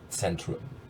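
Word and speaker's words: Zentrum: The accent's on the first syllable, and the Z should be a TS. Centrum.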